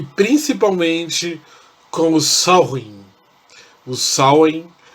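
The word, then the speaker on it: Samhain: principalmente com os alvin o sal em como era pronunciado na língua gaélica na escócia o que era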